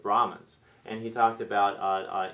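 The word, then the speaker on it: Brahmins: the what you called the brockmans uh which is really kind of a mispronunciation of brahans and he talked about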